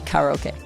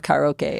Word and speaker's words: karaoke: is what happens in karaoke stays in karaoke. I'm doing the Japanese pronunciation of karaoke.